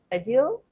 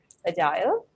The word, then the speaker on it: agile: were several mispronunciations uh agile that's that was uh pronounced as a deal which should be corrected correctly pronounced as agile ajar means able to